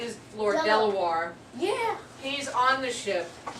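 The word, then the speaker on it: De La Warr: His name is Lord Delaware.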